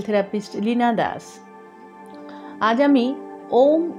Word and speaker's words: ওম: ওম বলতে হয় তো ও আর ম লেখা আছে ওম কিন্তু উচ্চারণ হবে এ ইউ এম আর এটাকে ভেঙে ভেঙে